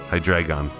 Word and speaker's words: Hydreigon: You know, Hydreigon. That's how you pronounce it, right? Because it's based on the German number 3, Hydreigon.